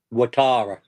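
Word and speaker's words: Ouattara: And there was also Dang uh Dango, how do you pronounce his second name, Rich? Watara.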